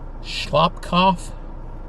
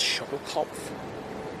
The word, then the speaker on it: Schoellkopf: elevator shaft of the Schellkopf Power Station number 3. I believe I mispronounced the name. I think it's Schoellkopf Power Station.